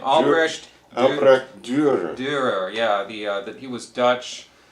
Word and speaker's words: Dürer: How do you pronounce his name? Albrecht Dürer.